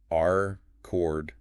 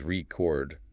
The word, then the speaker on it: record: Words like our cord noun versus record verb or content versus content. Ah yeah. Where the stress changes the word type or meaning.